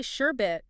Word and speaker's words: sherbet: Yeah, but it's actually sherbet.